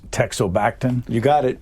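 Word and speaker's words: teixobactin: this story uh if the medicine if I pronounce it correctly it's texo backton you got it correct and it's Dr the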